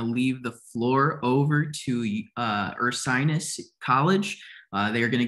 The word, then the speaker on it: Ursinus: I am one of the senior assistant directors here at Ursinus College. And you can see sometimes we get a little confusion on how to pronounce the name.